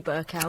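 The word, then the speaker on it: Bercow: Burau, but people are bending over backwards in order to pronounce it some other way. Burau. It's John Burkow. So it would be Sally Burkow.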